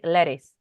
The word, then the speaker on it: lettuce: of the pronunciation okay Americans I don't know if you have noticed this but Americans usually when the t is between two vowels do you know what is the mean vowels vocales they pronounce it like an R so they say lettuce have you noticed that